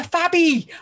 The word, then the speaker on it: Fabby: And now I've got an extra syllable. I'm a Fabby. And I love being a Fabby because I'm fab.